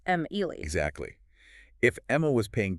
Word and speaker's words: Emily: But Emily has 3 syllables, Em-Ely.